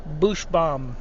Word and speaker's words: Buchsbaum: The author is Robert N. Bushbaum. You spell that Buchsbaum.